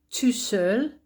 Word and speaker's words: tout seul: So notice how the spelling is different, but also the pronunciation is different. So je suis ici tout seul or toute seule.